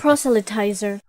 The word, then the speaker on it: proselytizer: Proselytizer. Oh, proselytizer. My bad. Proselytizer. I completely got it wrong. Proselytizer. A proselytizer is pronounced proselytizer is a 4-syllable word in the primary stress of the first syllable phi.